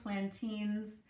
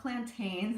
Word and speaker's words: Plantines: i'm pronouncing that correctly plantings it's not plantains it's not like those uh banana shaped vegetables that you see at the grocery store sometimes these are really